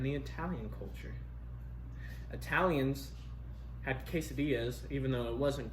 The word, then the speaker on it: quesadilla: They say quesadilla, but it's quesadilla.